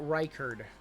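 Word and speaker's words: Reichard: Or when I get his name wrong. It's Will Riker.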